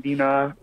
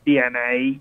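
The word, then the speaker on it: DeNA: basically Nintendo was letting Dina it's actually pronounced DNA okay that allowed is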